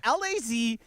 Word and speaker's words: Lazaga: Debbie Lazaga. No, the back end is screwed up on you. Am I right or wrong? You're not right. Her name is spelled Lazaga. How would you pronounce close. If you put an S, that's lasagna. You're missing an N? Lazaga. Lazaga is how she says it, right?